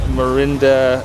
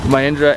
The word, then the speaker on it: Mahindra: This car that it's in is called, this is a Marinda, how do you say this brand? XC500, Mahindra XC500.